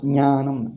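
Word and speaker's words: jñāna: Whether for South Indian or North Indian, it should be Jna. Jna. Ja, Jna. Jnanam. Ajnanam.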